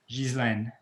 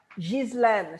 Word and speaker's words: Ghislaine: Ghislaine. Ghislaine. So, it's a soft G and you do pronounce the S. It is hopeless. Exactly. Okay. Ghislaine.